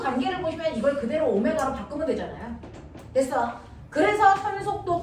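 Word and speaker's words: ω: 이거 W로 읽으면 안 된다. 나만 그렇게 읽는 거다. 너네는 뭐라고 읽어? 오메가.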